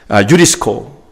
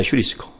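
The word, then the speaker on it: εὑρίσκω: 유리스코. 이 말이 원래 헬라어 발음 말하면 휴리스코입니다. 휴리스코.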